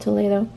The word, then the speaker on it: Toledo: are from Toledo Spain spelled Toledo just like Ohio but pronounced Toledo and they're just these